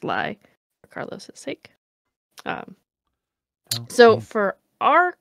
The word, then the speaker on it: Ely: E-L-Y. Just pronounced Ly, for Carlos' sake.